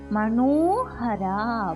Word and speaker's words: மனோஹரா: கர்ண 3 சுழினா அழுத்தமா உச்சரிக்கணும். கர்ண. பூர பூர பூக்களுக்கு வர பூ. பூர. மனோஹரா மனோஹரா.